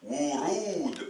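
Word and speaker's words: ورود: Remarquez ici, on a 2 waw. Un waw au début qui va forcément se prononcer wa. Et un waw au milieu qui va se prononcer ou. Parce que je viens de vous dire que le waw a 2 prononciations. Soit le wa, comme un W, soit la longue voyelle ou.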